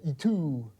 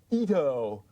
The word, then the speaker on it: Ito: Shisato Itoi? Ito. そうです。Ito です。Another problem name in English. If you spell it this way or this way, Americans are going to say Itu.